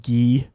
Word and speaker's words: Guy: Guy Lafleur, my hockey idol in 70s, pronounced Guy.